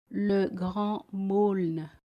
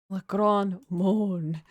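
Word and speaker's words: Le Grand Meaulnes: The name of the chief character in English, an unfortunate homonym of Moan. The Grand Moan. How do you say this? Le Grand Maulne. Le Grand Maulne.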